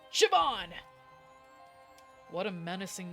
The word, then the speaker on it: Siobhan: Oh, let me pronounce it the way that he's probably pronouncing it. Sioban. Shabban. It's pronounced Siobhan.